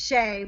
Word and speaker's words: Schoech: say your last name so it's pronounced shay but i will give